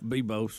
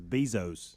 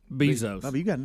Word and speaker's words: Bezos: Bubba Rick and Bubba Jeff Bose or something something like that how do you say at him I think it's Bezos Bezos yeah you dropped that